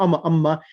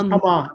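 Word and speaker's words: أما: It's not amma.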